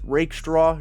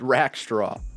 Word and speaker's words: Rakestraw: had to learn that I'm pronouncing his name wrong as I used to pronounce it Rackstraw.